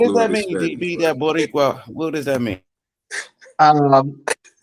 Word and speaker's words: Boricua: Is he saying Boricua? Yeah, Borica. I don't know how to say it like that. Dude. Yeah, Boricua. All right, damn.